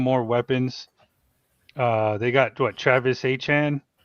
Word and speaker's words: Etienne: I think it's pronounced Achan now. It is. It's just so weird to me because I know I'm a Clemson fan. I've been saying Travis Etienne. It's never been Etienne, apparently.